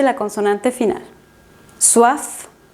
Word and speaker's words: soif: final u otras palabras en las que se pronuncie la consonante final. Soif, ciel.